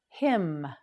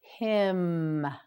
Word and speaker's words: hymn: Hymn, hymn, hymn. Can you tell the N on the end of this word is silent? Say it with me, hymn.